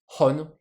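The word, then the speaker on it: 本: Hon. Du coup, un livre, ça s'écrit comme ça, et ça se prononce, en sino-japonais, hon.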